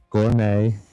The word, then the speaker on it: gourmet: Apostle, ballet, bristle, bustle, castle, Christmas, fasten, glisten, gourmet. Because you don't pronounce the T in the actual pronunciation of that word.